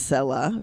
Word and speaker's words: Selah: Usually that's how the Hebrew is pronounced, Selah. Okay, I'm glad you Odie said hallelujah. that, Selah.